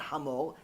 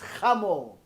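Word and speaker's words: חמור: No, it's not hamor. It's chamor. Cha. Americans can't say cha.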